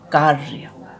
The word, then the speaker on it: कार्य: उच्चारण कहाँ आएगा, इसका अपने जिस अक्षर के ऊपर लगा होता है उस पहले अक्षर के बीच में इसका उच्चारण आएगा। जैसे कार्य, क्या बोलेंगे, कार्य, तो हमारी साउंड आवाज़ कहाँ आई, र बीच में आया, तो कहाँ पे